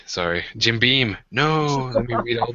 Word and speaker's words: Jim Beam: the really like expensive uh my brain just Jim Bean sorry Jim Beam no let me read all the names on